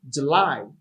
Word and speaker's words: July: pronunciations you can say july you're gonna say july you can say july just know one thing that the stress is on the second syllable without me we have